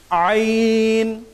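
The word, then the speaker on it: ع: এই হরফটির উচ্চারণ হয় হলকের মাঝামাঝি জায়গা থেকে। এই হরফটির উচ্চারণ হয়, দেখুন আমি করে দেখাচ্ছি, আপনারা আমার দিকে খেয়াল করুন। আমরা এই হরফটির উচ্চারণ দেখছি আইন, আইন, আইন।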